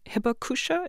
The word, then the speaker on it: hibakusha: was not familiar with um hibakusha am i pronouncing that correctly yes okay what is hibakusha